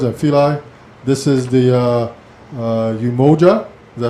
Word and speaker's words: Umoja: This is the Umoja Caribbean Union. Am I pronouncing that correctly?